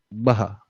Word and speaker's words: Baha: Baha. Baha. Oh, okay, I got your name wrong. So, all right. So, you mean Baha, right? Yeah. Okay, Yeah. Baha. All right. Baha'uddin? No, just Baha.